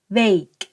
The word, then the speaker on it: week: ว่า วัน ทำ การ Wake Wake แปล ว่า สัปดาห์ คำ นี้ สระ เอ เบิ้ล 2 ตัว ออก เสียง เอ ยาว ๆ นะ คะ Wake weekend weekend แปล